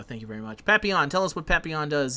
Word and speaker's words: Papillon: move on to uh papaleon did i say his name right i think i screwed it up happy yawn happy on there you go thank you very much papiyan tell us what papillon